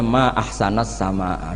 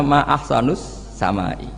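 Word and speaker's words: ما أحسنَ السماءَ: Mestinya bacanya ma ahsanas sama, duhai begitu indah. Tapi dia bacanya ma ahsanus samai.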